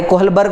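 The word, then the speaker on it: Kohlberg: कोलबर्ग आहे याच्या लक्षात स्पेलिंग मध्ये एच आहे पण तो सायलेंट आहे कोलबर्ग म्हणतात क्चुली त्याला आपण कोलबर्ग म्हणू सो लॉरेन्स कोलबर्ग हा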